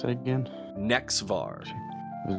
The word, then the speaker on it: Nexvar: How do you pronounce that again? Nexvar was Nexvar.